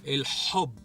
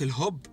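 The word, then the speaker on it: الحب: hope L hope so make sure to pronounce it right it's the letter ha that comes from here L hope not in hope L hope ok so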